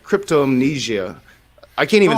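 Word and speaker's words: cryptomnesia: even close especially if it seems busy okay crypto amnesia that's how you say it crypto amnesia crypto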